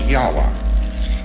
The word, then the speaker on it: Yahweh: So Lord knows how this word is to be pronounced, but more agreed upon pronunciation among scholars so they can talk about it is Yahweh.